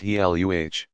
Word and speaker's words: Gila: venom into their prey the gila pronounced he luh monster and the Mexican beaded